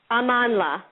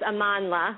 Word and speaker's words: Amandla: if it's amanda or amandla i don't want to butcher this name amanla yep it says on her official site how to pronounce it in the sidebar so great okay so everyone it's amanla i actually i love